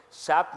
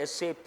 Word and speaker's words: SAP: it's a German word SAP means a pig there never says SAP you have to say s ap you have to mention that huh SAP if you